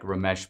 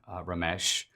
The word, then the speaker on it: Ramesh: Dinesh D'Souza, Asian Indian Ramesh. His name even rhymes with Dinesh.